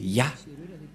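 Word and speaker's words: יה: à travers cette forme et il a invoqué Yah.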